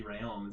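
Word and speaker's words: Rheaume: the first yeah uh the last name is r-h-e-a-u-m-e which i believe would be rayon isn't it is that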